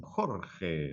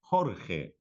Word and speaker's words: Jorge: Jorge, a pronunciação Jorge, né, como se fosse a J, como se fosse a pronunciação do H, do inglês. Jorge.